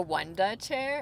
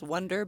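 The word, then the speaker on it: Wunda chair: The Wanda chair. Am I saying that right? You're saying it right. Some people think it's Wonder, but it's Wu N Da.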